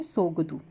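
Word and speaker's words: Tshogdu: हैं भूटान की सगड़ु यहां पर टी साइलेंट हो जाता है इसे बोलते हैं सोगद ठीक है सोगद नेक्स्ट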